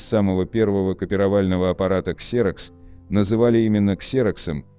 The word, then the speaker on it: Xerox: Удивительно, но на самом деле Xerox, а не Xerox. В Штатах начальную букву X всегда читают как Z.